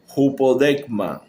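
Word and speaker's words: ὑπόδειγμα: La palabra figura viene de una palabra griega que se pronuncia más o menos así: hupodekma, que significa exhibición para imitación o advertencia.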